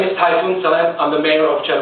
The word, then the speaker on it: Tayfun: So I say Tayfun, just like the hurricane, right?